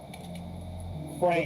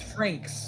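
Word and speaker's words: Franxx: no X and Frank Frank that's that's not Frank it's Franks it's it's f r a NXX okay darling and the Franks ref the Franks is machines they drive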